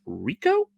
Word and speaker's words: R1C0: talking about this week I believe we would pronounce this artist's name as Rico it's kind of difficult to say for certain because it's the letter R the number one a c and then the number zero so I'm assuming so also